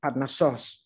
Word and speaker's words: Parnassos: How small our mightiest bends look when contrasted with his classic Parnassos, he wrote to his wife, adding, please accent the last syllable.